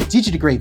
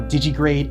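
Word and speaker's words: digitigrade: plant to grade and digitrade styles and yes that's how they are pronounced it's not planty to grade or digigrade it's plant grade and digit grade got it good plant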